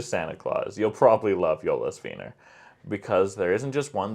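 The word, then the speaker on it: Jólasveinar: Jolasveinar. That was pretty good. I was going to say, as long as you don't pronounce the J as a J, Right. you're pretty good. Jolasveinar. The Jolasveinar.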